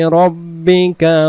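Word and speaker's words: رَبِّكَ: সাব্বিহামদি রব্বিকা। রব্বিকা। রাব্বিকা বলবো না।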